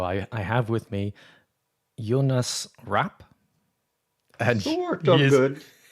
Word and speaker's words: Jonas Rapp: Everyone, I am Jonas Rap. That's who we say in Swedish or Jonas Rap or whatever you want to do.